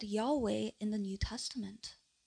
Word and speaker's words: Yahweh: And in the Old Testament, they would say Jehovah God. 조금 더 정확한 발음은 야훼입니다. A better pronunciation of this would be Yahweh.